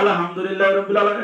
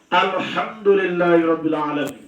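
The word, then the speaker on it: الحمد لله رب العالمين: ওইটা আলহামদুলিল্লাহ কইছে, আর এটা কইছে কি ওইটা কইছে আলহামদুলিল্লাহি রাব্বিল আলামিন। এটা তুমি উচ্চারণ করে কইলা আলহামদুলিল্লাহি রাব্বিল আলামিন, তাহলে কি হরফ উচ্চারণ হইল না?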